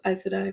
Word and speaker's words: Aes Sedai: Close, Aes Sedai, but I think a lot of people say it differently.